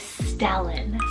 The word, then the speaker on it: Stellan: Another double L name is Stellan, spelled S-T-E-L-L-A-N, Stellan.